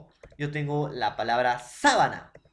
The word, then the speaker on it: sábana: en la pronunciación profesor uno es sabana y el otro es sabana entonces entonces díganme ustedes jóvenes área no será igual o similar la pronunciación sabana sabana vuelvo a repetir sabana sabana será igual o parecida profesor no llenan parecidas no suenan iguales sabana sabana profesor no